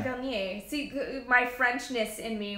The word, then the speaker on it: Vernier: Oh, so it is French pronunciation, Vernier.